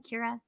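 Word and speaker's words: Qi'ra: Kira.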